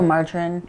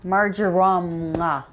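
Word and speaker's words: marjoram: So, margarine. No, margarine. What? How do you say margarm? Margaram.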